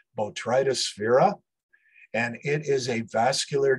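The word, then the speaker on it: Botryosphaeria: to remember that incredibly long name it is pronounced botrytosphera and it is a vascular disease of a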